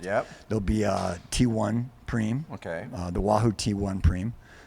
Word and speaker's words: prime: We've got this race, 3 preems going on. Excuse me, 4 preems going on. Preems. And I would like to define the discussions of the commentators, U.S. versus non-commentators. Okay. Spelled prime, pronounced preem.